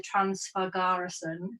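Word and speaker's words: Transfăgărășan: but we know we wanted to do the transfer garrison that's how you say it that road which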